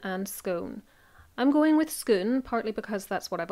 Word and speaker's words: Scone: There are three popular pronunciations: Scone, Scone, and Scone. I'm going with Scone, partly because that's what I've always called it,